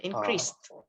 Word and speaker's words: increased: Remember, this is ending with the T sound, the T sound. So instead of increased, increased, okay, T, Increase, with T sound, increased.